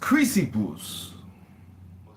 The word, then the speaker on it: Chrysippus: And then, or later the, It's pronounced Chrysippus.